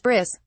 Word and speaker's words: bris: I was I did not know what a bris was and I decided to pronounce it Bri bris has pre so I did the whole monologue about my bris or like talking about this bris it was like a drama and then at